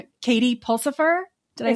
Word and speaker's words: Pulsifer: Katie Pulsipher, did I say it right?